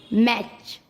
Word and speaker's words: match: MATCH मैच, कैच। यू कब silent होता है?